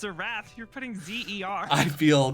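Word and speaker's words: Xerath: a soul ban okay getting rid of the Wrath I mean slam dunk he played super well it's pronounced zareth is it is a wrath dude hold on a second hold on a second it's a wrath you're putting Zer I feel cornered I feel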